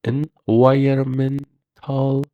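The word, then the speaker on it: environmental: انوایرمنتال به معنی محیطی هستش اینجا این ان تلفظ نمیشه بعدی امفسایز به معنی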